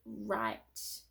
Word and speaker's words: write: video so w r the w is silent this is the word write so we don't say